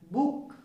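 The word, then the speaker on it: book: B double O के मैंने क्या लिखा है, बुक। इसमें जो उच्चारण जो है सिंपल आ रहा है, बुक।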